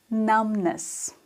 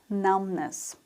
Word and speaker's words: numbness: a cat ah awful numbness B is silent numbness when you can't feel